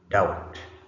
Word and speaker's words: doubt: So from the examples that we've just read a few a few minutes ago, you notice that uh from the words there are some letters that are not pronounced.